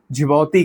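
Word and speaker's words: Djibouti: इसको झौती कहते हैं। देख काफी डी साइलेंट इसको रखते हैं। डी जे आई बी ओ यू टी आई ये एक लोकेशन पे है इनका।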